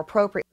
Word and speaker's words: appropriate: more to a more appropriate it's not more Pro it's more a pro more a pro more Pro more Pro there's a syllable there and that is definitely